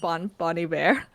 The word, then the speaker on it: Bon Iver: Oh, by the way, did you know it's pronounced Bon Iver, Bon not Iver? Bon No, I did Iver. not know that. It's apparently supposed to be French.